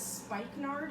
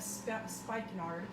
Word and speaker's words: spikenard: had no idea it's referred to as spikenard i think is how you pronounce it s-p-i-k-e-n-a-r-d um which is the